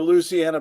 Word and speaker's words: Louisiana: Okay, 5 syllables, right?